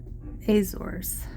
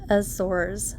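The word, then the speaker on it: Azores: from Lisbon to F aors which I've since learned is pronounced more like aour so please bear with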